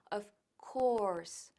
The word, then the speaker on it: of course: Bien, pues of course, primero la pronunciación es muy importante, porque no decimos of course o of course, sino of course. Course es una O larga, of course, of course, of course.